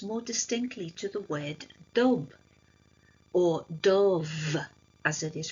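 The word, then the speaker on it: dubh: sign ification attaches more distinctly to the word dob or do as it is pronounced which means black and then this quote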